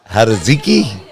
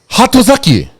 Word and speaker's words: Hatozaki: Haraziki? Hatozaki. Oh, there you go. Very good. Hatozaki. He did it. It was actually pretty good, though. I don't fucking know. Hatozaki.